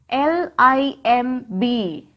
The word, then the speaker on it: limb: L-I-M-B. How can we read this word? Limb. Repeat it. Limb. Here, letter B is silent.